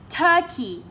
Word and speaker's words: turkey: Ok, chúng ta đọc là turkey. Ok, turkey cũng là trọng âm 1 luôn.